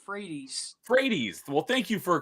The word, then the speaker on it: Frates: happy to have Christian Freight's on hello Christian thanks for joining me tonight you're welcome my last name is actually pronounced Fredy fredes well thank you